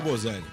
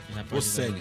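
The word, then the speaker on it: Boselli: No lugar dele entrou o Bozelli. Bocelli. O Bocelli também? É Bozelli mesmo, eu vi numa entrevista. Ele Bocelli. falou que é Bozelli. Não sei. Então, mas se pronuncia com S.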